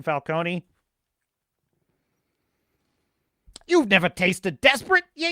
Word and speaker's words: Falcone: as a carmine Falcone the correct pronunciation Falcone you've never tasted desperate